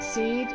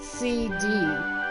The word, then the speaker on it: SeeD: Now, I'm going to pronounce it seed. It's funny, when I first played it, I said CD. But then I got far enough in the game, and it occurred to me, garden will probably pronounce seed.